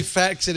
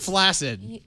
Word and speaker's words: flaccid: flabby, flaccid, and It's pronounced flaccid. You're not even pronouncing the word. There's two C's, Leo.